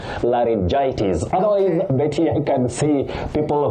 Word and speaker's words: laryngitis: So, this word you say laryngitis. Laryn- then gitis, laryngitis. So, it's tricky and certain words in English can be tricky for anyone anywhere on earth. So, please, the way to pronounce that word is laryngitis.